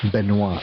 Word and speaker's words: Benoit: So, but your first name is actually not pronounced Ben. It's Benoit.